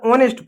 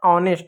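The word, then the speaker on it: honest: अब देखो यहां यहीं पर एक शब्द है नौवें नंबर पे क्या है इसको हमेशा ऑनेस्ट पढ़ते हैं। अरे ऑनेस्ट नहीं होता है। ऑनेस्ट होता है। ईमानदार होता है। एच साइलेंट होता है।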